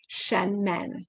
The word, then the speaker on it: Shenmen: It's called the Shen. s h e n and then men. Men, like the plural of man, shenmen.